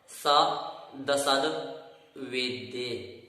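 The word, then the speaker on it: सदसद्वेद्ये: जो यहाँ उच्चारण होगा वह इस प्रकार होगा, स दसद वेद्ये, अर्थात सा को अलग से पढ़ना है, फिर दसद और फिर वेद ए।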